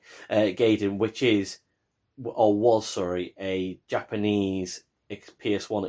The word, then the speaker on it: Gaiden: 4 and Gradius Gaiden, I'll say it right, Gaiden, which was a Japanese PS1 exclusive, and it was the first time it got introduced to the West on this PSP collection.